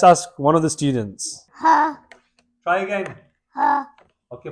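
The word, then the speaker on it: ح: Ha. Try again. Ha. Okay, put your hand there as if you're cleaning some glass.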